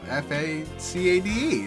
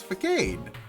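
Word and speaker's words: façade: it's like with facade no it's because like like arcade it's got a you know f-a-c-a-d-e it's vacated he's like dude it's french it's not the gate it's facade my my history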